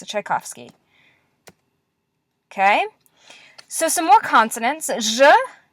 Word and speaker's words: Tchaikovsky: in English it's called the Giselle it's a Tchaikovsky okay so some more consonants yeah is what